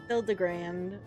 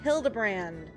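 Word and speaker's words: Hildibrand: Hildrand. It's pronounced Hildebrand.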